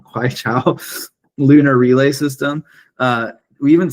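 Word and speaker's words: Queqiao: We see in their Kwaikwao, I'm pronouncing that way wrong, Kwaichao lunar relay system.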